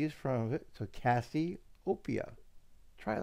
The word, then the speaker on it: Cassiopeia: when you say it it's copia it's the end part you're getting wrong cassieopia so remember I call you Cassie Cassie is from of it so cassieopia try it like that